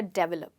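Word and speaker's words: develop: बोलते हैं डेवलप या डेवलप, जब इसकी करेक्ट प्रोनाउंसिएशन है डेवलप। और इसका जो स्ट्रेस है वो ए पे रहेगा, और इसको आप कहेंगे डी वेल अप।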